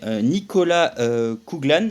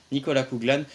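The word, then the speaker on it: Nicola Coughlan: une actrice très connue pour la prononciation c'est Nicolas kuglan voilà c'est ça Nicolas kuglan qui est une une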